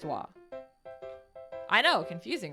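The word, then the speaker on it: は: written as a wall it's actually written as ha but it's pronounced wah i know confusing right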